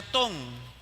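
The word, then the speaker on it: תם: En el hebreo, esa palabra que aparece ahí se pronuncia ton y significa completo, significa perfecto.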